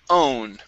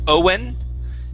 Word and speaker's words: own: So let's go to the word own. Now here, mm-hmm. Here you said Owen, okay, mm-hmm. Pronouncing a vowel after the W. So instead of Owen, it's O-N, own.